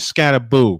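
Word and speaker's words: Skattebo: The correct pronunciation is Scatteraboo.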